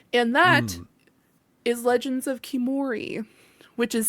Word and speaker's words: Khiimori: Now, let's go into my most anticipated that does have a release date, Sean, and that is Legends of Kimori, which is spelled Khiimori.